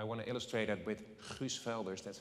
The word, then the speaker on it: Guus Velders: And I want to illustrate that with Guus Velders, that's how you say it, who was mentioned by Time in top 100 of leaders in this field of climate.